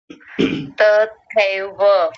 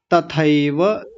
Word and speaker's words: तथैव: आचार्याः पितरः पुत्राः तथैव च पितामहाः। ध्यान रखेंगे, तथैव, कुछ लोग तथैव बोलते हैं, कुछ तथैव, तथैव नहीं, तथैव, तथैव च।